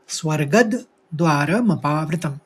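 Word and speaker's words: स्वर्गद्वारमपावृतम्: एक ही शब्द है यहां पर ग के ऊपर आघात है तो द का उच्चारण निकालेंगे स्वर्गद कहेंगे फिर द्वार मपावतम स्वर्गद्वार मपावतम और द जो है वो बिल्कुल हस्व बोला जाएगा धीरे से स्वर्गद्वार मपावतम तीसरे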